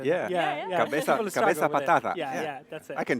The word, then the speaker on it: Cabeza Patata: And I'm here with Katie and Abel from Cabeza Patata, the potato head. That's a good pronunciation. Yeah. Cabeza Patata.